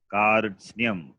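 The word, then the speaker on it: कार्त्स्न्यम्: So how can it be Kath? It must be Kar. Repa is the letter follows. So Karsnyam. So Karsnyam. Now it is pronounceable. It's a difficult combination, but become pronounceable when you have the vowel at the beginning and also the vowel at the end. Is there. So it becomes pronounceable. Karsnyam. It should be read as Karsnyam.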